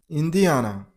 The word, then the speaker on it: Indiana: It's pronunciation is linoi. Elinoi. Elinoi. That's it. Next number 14. Indiana.